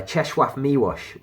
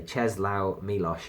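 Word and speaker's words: Czesław Miłosz: they annoy people by cheshwarf miwash who I love pronouncing his name the Nobel prize winning brilliant Lithuanian polish poet I like pronounced his name because most people say Chez Lao milosh and it makes me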